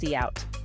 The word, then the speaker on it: cout: stands for common input and one for cot pronounced cout which stands for common output to use sin